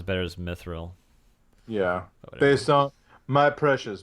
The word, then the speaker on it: mithril: think so it's yeah I always said mithril but the movie said me thrill me to meet the real me 30 look sounds better as mithril yeah based on my